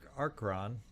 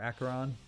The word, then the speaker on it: Acheron: I don't have to worry about the Acheron. Acheron. I say it wrong. I don't think there's an R at the beginning there. Acheron. There we go.